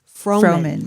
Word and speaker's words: Froman: And then Froman is my maiden name. So, FR O like Fro and then man, M- an AN.